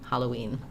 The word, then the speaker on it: Halloween: So just noticing that if I move from O-E, we just naturally glide through that W sound. Halloween.